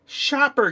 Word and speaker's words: Schaper: all this is a shopper game and right here in the corner it says pronounced Shopper and the graphics